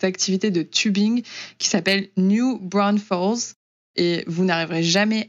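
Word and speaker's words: New Braunfels: dont ils le prononcent, je trouve que ça ne correspond pas du tout à la façon dont ça s'écrit. Mais du coup, pour vous le dire de façon un peu plus lisible, c'est New Bro, B-R-A-U-N, Fels, F-E-L-S.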